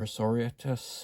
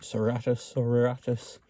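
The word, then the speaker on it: Sororitas: And we'll bring back in good old Adapta Serratus, or Soriatus, or whichever way you want to pronounce it. I pronounce it Serratus.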